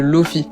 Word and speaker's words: lofi: de musique très particulier qui est le Lofi ou l'ofy sur le prononce à l'anglaise si je vous parle